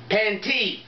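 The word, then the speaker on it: Pantai: the bomb right here it's pronounced p-a-n-t-a-i panty it's from Thailand all right so this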